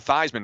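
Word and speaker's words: Theismann: it yeah beasman Bean changed his own name the thyman to rhyme with Heisman isn't that a true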